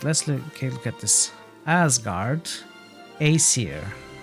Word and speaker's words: Aesir: Aesir. Aesir, not Aesir.